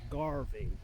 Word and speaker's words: Gulvain: So there's two ways of pronouncing it. There's it's Gulvain to us English, and then the Gaelic pronunciation is Garvain.